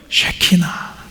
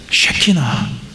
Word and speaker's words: 쉐키나: 쉐키나. 우리 함께 따라해 볼까요? 쉐이나. 쉐나. 발음을 잘하셔야 됩니다. 이게 발음을 잘못하면 이상해져요. 쉐키나 쉐 하나님의 임재 내 삶에 하나님의 임재가 필요하다.